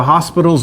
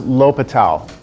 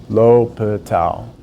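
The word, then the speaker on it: L'Hôpital: a section entitled the hospital's rule it's actually pronounced l'hopital l'hopital lo put a towel l'hopital's rule and this is what we're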